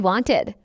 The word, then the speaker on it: wanted: The rule for regular past tense verbs is that if the base verb ends in a T or D sound, the ed ending is pronounced as a separate syllable ID.